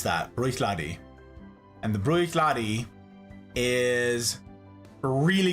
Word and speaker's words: Bruichladdich: Bruichladi. That's how you pronounce that. Bruichladi.